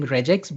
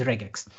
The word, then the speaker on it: regex: So I will be using reax but if you have to be pron uh be correct in the pronunciation the right term is regax.